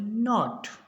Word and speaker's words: knot: KNOT, इसको पढ़ेंगे नॉट, तो के का उच्चारण इसमें नहीं होगा।